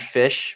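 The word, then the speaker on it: Phish: asked about the band fish because some of you might know the band fish that's p-h-i-s-h it's literally right in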